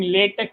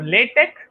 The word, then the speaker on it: LaTeX: So LaTeX, so I understand LaTeX as you lay text. So that is called LaTeX. You lay your text. That's the reason it's called LaTeX.